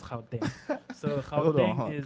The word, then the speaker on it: Gauteng: It's not pronounced Gauteng. It's pronounced Gauteng.